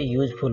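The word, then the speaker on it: useful: जब सिंगल है तो इसका प्रोनाउंसिएशन यू होगा, तो यहाँ पे यूजफुल बोलते हैं, और उसके साथ हम ए का प्रयोग करेंगे।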